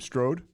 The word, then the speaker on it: Strode: now how do you say your last name Strode Strode okay um I want to ask you